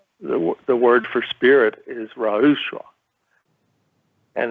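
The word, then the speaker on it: ruach: different meanings uh the word for spirit is rausch and it's spelled r-u-a-c-h and typically it means breath or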